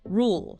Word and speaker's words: rule: The material points out the two main sounds in this word. The initial or sound and the tricky dark sound at the end. Rule. Yeah, it's important for clarity to try and get both of those sounds in, especially the dark. While the might get a bit shorter or less distinct and very rapid speech, the full sound is generally the standard to aim for.